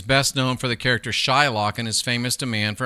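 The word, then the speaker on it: Shylock: Is it possible that Shakespeare originally intended the name to be pronounced with a short I rather than a long one? So instead of being it would have been Shillock or Shill for short.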